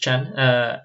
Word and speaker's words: Chan: We have Chan, this is pronounced Chan, as our membership chairperson.